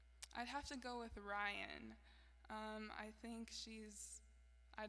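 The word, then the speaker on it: Ryahn: oh like I know that person too but Ryan is spelled r-y-a-h-n she's just a really good R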